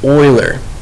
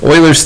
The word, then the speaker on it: Euler: this guy's name is Euler it looks like you'll urban it's pronounced Euler think of him is going to look like a guy that would search for oil I don't know maybe